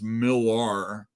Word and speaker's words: Millar: I like to pronounce Millar, since there's a few Mark Millers out there. Just so you know, it's that Scottish dude.